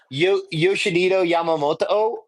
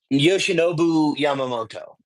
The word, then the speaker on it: Yoshinobu Yamamoto: don't even try to get me to pronounce fucking Yoshi's name. Yoshinito Yamamoto, like Yamamoto. You pretty much Yoshinobu. Yoshinobu Yamamoto.